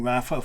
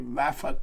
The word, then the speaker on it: Rapha: Now the next one is that clothing brand that you've all heard of, and you were thinking of doing Rapha 500.